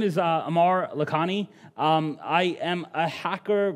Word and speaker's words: Aamir Lakhani: guys uh so uh my name is Amar lakhani uh that is actually how you say my name um you know my